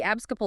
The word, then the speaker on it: abscopal: The abscopal effect, that's pronounced abs-so-h-pol, is the one that really grabs attention.